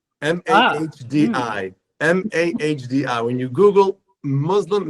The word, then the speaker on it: Mahdi: looking for, whose name, by the way, is Modi. Mahdi.